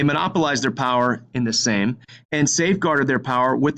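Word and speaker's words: Sejm: monopolize their power in the same which is spelled SE JM it's the legislative body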